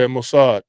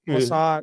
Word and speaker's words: Mossad: Maad, am I saying that right? Setting up for a while. At 61 days, Israel attacked." Yeah, Mossad. Mossad, that's how you say that.